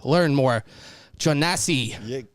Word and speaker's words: Learnmore Jonasi: But joining us right now, we have comedian Learnmore, Jonasi.